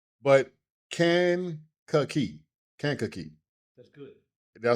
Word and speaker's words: Kankakee: All right, Kankakee. Kankakee. Kank. K-A-N-K. Kankakee. Kankakee. But you put like the Kankakee, like the like can.